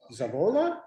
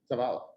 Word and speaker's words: Zavala: One is Zavola. Am I pronouncing that correctly? Zavala. Sorry. Please stand and introduce yourself.